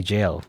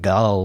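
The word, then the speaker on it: gaol: it that was jail this is the old way to say jail g-o-a-l you know it's jail not like gull or gayle or i don't know joel it's jail the ever jail so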